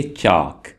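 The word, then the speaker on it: chalk: उसको इंग्लिश में बोलेंगे चाक या यहां पर एल साइलेंट है फाइल होल्डर फाइल होल्डर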